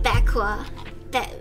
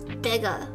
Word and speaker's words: Bega: Maybe you need a Becqua. What is it? Bega? Bega. It looks like Becqua.